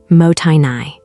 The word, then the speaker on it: mottainai: There is a Japanese word that has no direct English equivalent, mottainai, pronounced mo-tai-nai.